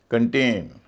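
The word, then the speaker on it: contain: कंप्लेन शिकायत करना verb है कंप्लेन regain कंटेन सी ओ एन टी आई एन कंटेन करेल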